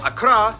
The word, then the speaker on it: Accra: hole and tamale and of course the capital Accra yes that's how you pronounce it located in the Southeast along the